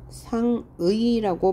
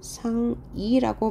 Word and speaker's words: 상의: 그래서 상의한다 할 때 이 상의는 상의라고 발음해도 되고요. 상이라고 발음함도 허용한다.